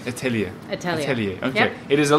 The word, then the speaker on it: Etheliya: have you must be honest how was my pronunciation of your name correct correct Italia it okay it is a lovely name and